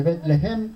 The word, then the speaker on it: Betlehem: Ustedes recuerdan que una familia de Belén, o de Betlehem, como se escribe y se pronuncia en hebreo, bajó temporalmente de la casa de pan, que eso significa Betlehem, a los campos de Moab.